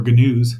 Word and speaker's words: gnu: to call them or gnus maybe they're whitetail gnuz as they and I do know it's pronounced new but blame the muppets on that one.